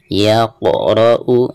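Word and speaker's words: يَقْرَأُ: Yaqra'u. Nah, huruf qaf ketika sukun maka dihukumi qalqalah, cara membacanya harus dipantulkan ya.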